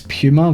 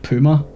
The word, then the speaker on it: Puma: That's Puma with a Pew, not Puma. I think that's how Americans pronounce it, right?